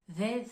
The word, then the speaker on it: they: là vous pouvez distinguer le premier mot en th the c'est une prononciation qui va mobiliser les cordes vocales tandis que le mot think c'est un TH un peu plus doux où là on va pas chercher dans la gorge à prononcer de façon plus accentuée en fait alors essaie